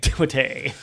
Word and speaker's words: Timothée: Because he insists it's pronounced Timothy. Yeah. But it is spelled Timothée. Like the way you and I are saying it is the way that you would spell. And Dad's French, and it's the French spelling.